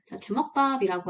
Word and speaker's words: 주먹밥: 됩니다 저녁으로 주먹밥을 먹었다 주먹밥이라고 하는 단어의 표준 발음을 보시면 표기는 주먹밥이라고 하는데요 실제로 발음은 주먹밥이 표준 발음이잖아요 그러면 표기와 소리가 서로 다르다고 볼 수가 있습니다이 팔다운에서는 이렇게 소리와 표기가